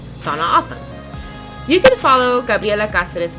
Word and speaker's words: Tohono O'odham: One of the first things April wanted us to learn was proper pronunciation. Tohono O'odham. Tohono O'odham. Tohono O'odham.